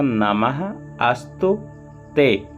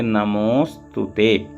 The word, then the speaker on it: नमोस्तुते: यहाँ पर देख लें नमो, तो ये क्या था, नमः अस्तु ते, तो संधि होकर नमोस्तुते बना। तो यहाँ नमो अस्तुते ऐसा नहीं बोलेंगे, बोलेंगे नमोस्तुते, शुद्ध यही है।